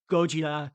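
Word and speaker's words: ゴジラ: so I'm just gonna refer to it as Godzilla because that's how people know it. But again, Gojira Yeah. is the pronunciation in Japanese.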